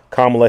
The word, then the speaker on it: Kamala: So now he has endorsed Kamala Harris. Or, yeah, you said Kamala or Kamala Harris. I think it's correctly pronounced Kamala.